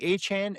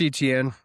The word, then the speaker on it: Etienne: It's Travis Etienne. If it's your first year coming in the league, you can say, my name's actually pronounced this way. People don't know you, but you can't be on your second contract and then say, my name is Achan, one of the best